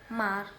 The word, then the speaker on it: mark: the transcription something similar happens in the word mark tao this might come a surprise if you're